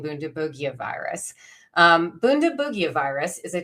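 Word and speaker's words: Bundibugyo: It is called Bundabugia or Bundabugia. It seems that the hard G team is winning out.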